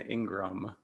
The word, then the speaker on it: Ingram: you here today how do you say your last name you said it correctly Ingram perfect I'm really glad because